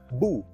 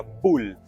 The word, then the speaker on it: boel: b o e l se escribe boel y se pronuncia bu Ay me perdona mi